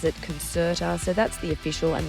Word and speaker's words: Concerta: Also, apparently I've been saying concertera and a few people have pointed out that it's actually concertera because, and I quote, there is no sh in concert, which is fair, but here's how my brain got there, right?